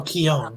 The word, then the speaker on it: Keoghan: That's how you pronounce it. Oh, Keown, excuse Yeah. me. Keown. I didn't even know that. Yeah, it's Irish.